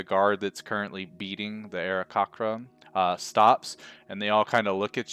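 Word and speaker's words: Aarakocra: there's this bird folk, Arakocra, I think is how you say it, right? Do you know, Joe? I've always pronounced it Arakocra. Arakocra.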